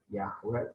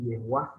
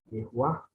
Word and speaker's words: Yehuwah: Di dalam ayat ini dengan jelas sekali dikatakan ya, We Adonai, ini Yahweh, ini ya, Yahweh sebenarnya bukan Yahweh, ini Yehuwah bacanya ya, Yehuwah.